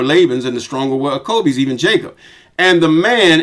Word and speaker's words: Jacob: I say acob because I leave the J out. The J wasn't there at first. Some say acob, but I just say acob.